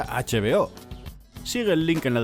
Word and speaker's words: HBO: de cine y series h veo que podría leerse vo pero se pronuncia h veo sigue el link en